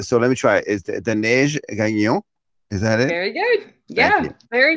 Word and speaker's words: Daneige: i love the fact that they have the pronunciation of your name uh recorded on linkedin right so so let me try is the neigh again is that it very good yeah very